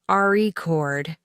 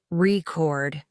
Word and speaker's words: record: in meaning for example if you say the word record with the stress on the first syllable it's a noun rord but if the stress is on the second syllable it's a verb record listening closely to how